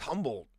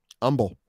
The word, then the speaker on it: Humble: Humble. Yeah, I can understand. Yeah, I can see how that's if you pronounce it humble, you're not from Texas, fam. You don't know about it. It's pronounced humble.